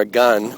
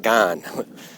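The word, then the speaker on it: Oregon: Or a gun, not gone.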